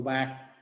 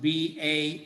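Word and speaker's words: Baal: of the old testament b a a l in english we almost put that together as a glide and it's ba in hebrew it's two syllables because there's a consonantal sound between them was one of those letters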